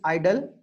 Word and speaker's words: IDLE: Idle is the, you can say that it is the idle is the software IDLE. Okay, I'm pronouncing as idle.